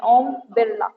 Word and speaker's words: ओम बिरला: ओम बिरला बोलते हैं, कुछ लोग नहीं बोल पाते हैं हमारी तरह, तो वो बिरला बोलते हैं, तो कुछ भी बोलना, बट यही प्रोनाउंसिएशन है, ओम बिरला, ठीक है।